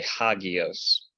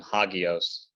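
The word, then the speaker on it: ἅγιος: if you remember from hagios there's that rough breathing Mark there and we talked about this last time yes it initially made an H sound but it isn't pronounced anymore it's still written and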